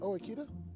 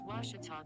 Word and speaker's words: Ouachita: oh wish tall oh a cheetah is it pronounced oh akita searching for washi at a baptist university back in texas everybody pronounces it wichita but really it's ouachita washington washington how would you pronounce it it's washita baptist university get it right it's watertall people